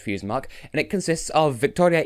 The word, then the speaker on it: Fusedmarc: is called feuds mark i think it's pronounced fuse mug and it consists of